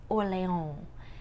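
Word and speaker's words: Orléans: to color it green and this is oleon and you have to say it with your best french accent france and so um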